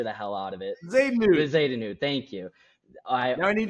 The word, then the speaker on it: Bezuidenhout: But Christiaan Bezuidenhout, however you say it, I always butcher the hell out of it. Bezuidenhout, thank you.